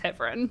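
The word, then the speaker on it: Heavrin: The last 2 committees I've been in, my name's been butchered, so I appreciate you saying it correctly the second time. Sorry. For all the people in the room sending the text, we do know my last name is Heffron.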